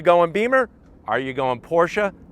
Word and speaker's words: Porsche: Are you going Porsche? That's how you pronounce it. You don't say Porsche. Porsche. That's That's how it's pronounced.